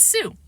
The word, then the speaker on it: Sue: "Your name is Shoe?" Fudge asked. "No, it's Sue." No way was I going to tell the cop my sister can't pronounce the SH sound.